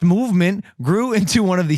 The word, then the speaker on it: MVMT: Movement pronounced movement grew into one of the fastest growing watch brands, shipping to over 160 countries across the globe.